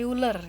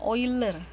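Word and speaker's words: Euler: ada ee itu bilang ane uler ya atau bacanya oil er bilangan natural nilainya adalah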